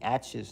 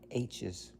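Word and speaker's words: aitch: like what Jess has pronouncing aches not hes aches are pronounced with the number eight which eight eight wies oh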